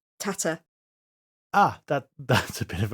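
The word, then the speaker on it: טאַטע: From what I'm told, the most jarring one is Ariel herself keeps saying the Yiddish word for father incorrectly, because she says tate a lot. It's tata.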